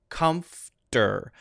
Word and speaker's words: comfortable: You have to do that comf sound. This is a native pronunciation. Comfortable, comfter. Now there, I do say the T sound, okay? So you can either say comfortable with the light D, or say comfortable, whatever is more comfortable for you.